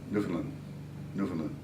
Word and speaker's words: Newfoundland: do you pronounce newfoundland newfoundland you're not supposed to accent any one of the three no no yeah yeah